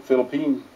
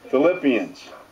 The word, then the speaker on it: Philippians: This week's thoughts come from the Philippines. Those people. 11 through 13. How you pronounce that again? Philippians.